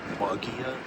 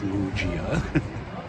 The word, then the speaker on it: Muggia: I did have to ask directions how to get to it, and I said Mia, and they told me it's pronounced Mujia.